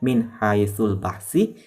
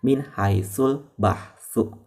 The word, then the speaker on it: min haitsu: Jadi teman-teman bacanya jangan min haitsul bahsi, tetapi teman-teman bacanya min haitsul bahsu, ya.